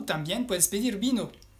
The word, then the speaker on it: vin: Y si quieres alcohol, puedes pedir una cerveza, une bière, o también puedes pedir vino. Vino se dice du vin, con la V francesa y la nasal 1, entonces du vin.